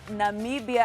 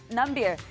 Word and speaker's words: Namibia: and his INF famous mispronunciation of Namibia as nambia and during his election